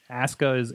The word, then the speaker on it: Asuka: You know, Asuka is the way that they pronounce it over there, despite the spelling.